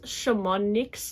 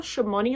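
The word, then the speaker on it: Chamonix: is quite robust this Shaman NYX leather shimani leather I think the x is silent is a discontinued Leather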